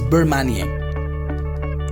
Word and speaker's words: bain-marie: This is again a French word. So this is the pronunciation, which is Bain-Marie.